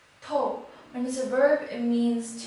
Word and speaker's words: 透: this character is pronounced as toe toe and this verb it means to penetrate for